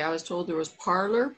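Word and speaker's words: Parler: you're you're muted how do you say it parlor parlor okay you didn't want to say that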